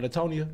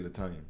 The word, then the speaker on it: Latanya: Hey, Did shout out I pronounce that right? Latonia. Latanya. It's really Latanya.